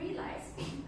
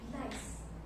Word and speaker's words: realize: For example, for British, they pronounce realize as realize. So they have s sound. For American, realize. You can hear the difference between z and s sound.